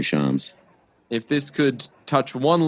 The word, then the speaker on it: Shams: say his name right it's charms and if that's sorry shams if this could touch